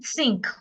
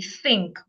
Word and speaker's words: think: sound this way so instead of putting my tongue inside and saying thinkink which is a wrong pronunciation I'll put my tongue outside and say think I'll do the same